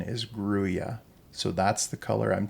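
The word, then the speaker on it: grulla: know that a lot of Canadians and others pronounce the word grla g Ru l l a but in fact the proper pronunciation is grya so that's the color I'm talking about jazz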